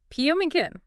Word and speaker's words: pumpkin: P-U-M-kin.